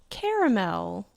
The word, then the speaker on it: caramel: So how do you pronounce caramel? With 3 syllables.